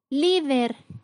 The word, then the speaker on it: líder: Líder, la sílaba con mayor fuerza es li, que es la penúltima sílaba, cumple con la regla, termina en R, por lo tanto se coloca tilde.